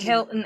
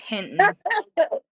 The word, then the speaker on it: Hinton: I said Hilton earlier and then I was like, "Oh no, it's Hinton."